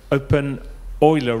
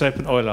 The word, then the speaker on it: openEuler: pronounced your name right but I pronounced the name open Euler wrong so I'm sorry it is open oil I have a problem with Euler the mathematician's name so uh thank you